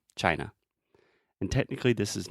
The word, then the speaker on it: China: China is just chai just like with a CH sound in the beginning and then the schwa China and technically this is